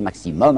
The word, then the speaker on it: maximum: Vous savez, aujourd'hui on dit maximum, mais ils disaient maximum, alors je prononcerai comme eux.